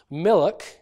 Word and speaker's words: milk: extra vowel in so the word milk will often be pronounced Milic Milic with an extra vowel between the alert and the cur because of a natural tendency to break up complicated consonant clusters so there are various